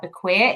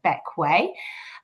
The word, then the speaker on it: Bequia: So despite being spelt like Bequia, it's actually pronounced Bequia.